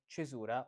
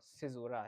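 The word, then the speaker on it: caesura: Now the topic is the chisura or seizura as you want to say in the pronunciation you prefer.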